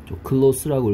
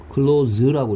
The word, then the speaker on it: close: 자, 그래서 이 close라는 단어에 대해서 선생님 첫 번째 알려드릴 건 발음에 따라서 품사, close라고 읽으면 형용사로서 친한, 가까운, 그 다음에 또 부사로서 친하게, 가깝게, 이런 뜻이고요. close라고 읽으면 닫다란 동사입니다.